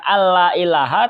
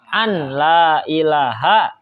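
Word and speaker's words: أن لا إله: salat Oh gini jadi Nun nya kita baca izhar bukan kita baca alla ilaha tapi kita bacanya An laa ilaha itu bisa membatalkan tuh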